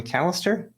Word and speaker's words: Mallister: Rebecca Jane Mallister.